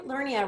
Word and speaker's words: Lernia: Lernia rhymes with hernia.